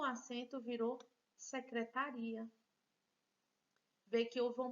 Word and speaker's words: secretaria: seja lá onde for sem o acento virou secretaria nem vem que eu vou mudança na sílaba tônica e aqui fábrica o assento está